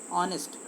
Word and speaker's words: honest: ऐसे तो हमें समझ में आ रहा है कि एच है, बट दिस इज साइलेंट.